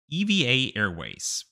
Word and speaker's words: EVA Air: Eva Airways yes that's apparently how you say it I also just